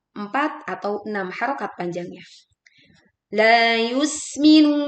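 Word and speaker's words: يُسْمِنُ: La yusminu. Memanjangkan la sepanjang dua harakat. Yusminu. Tekan huruf sin dengan membuat bunyi suruid yang tajam. Ya, suara suruid terdengar tipis yus.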